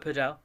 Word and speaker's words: padel: No, I call it padel. Yeah, padel, yeah. I'm with you. Absolutely. It's not spelt paddle; it's spelt padel.